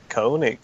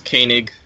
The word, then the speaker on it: Koenig: inherently like be good that's how you pronounce his last name I always thought it was like the like Connacht or something not it's Koenig to my knowledge it's Koenig I remember like researching